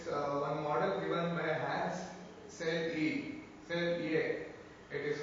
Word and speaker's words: Selye: And there is one model given by Hans Selye. Selye. It is pronounced as Selye.